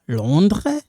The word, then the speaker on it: Londres: Vous êtes de Londres. Silent, we don't pronounce that S.